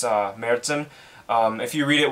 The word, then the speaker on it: Märzen: it's heavy seas mercen and that's how you pronounce it by the way when you have the the umlaut it's uh mertzen um if you read it without the umlaut it'll be marzin which sounds close to march which is what